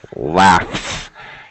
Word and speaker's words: laughs: microphone I'm not sure laughs yes it's an S sound uh COI I haven't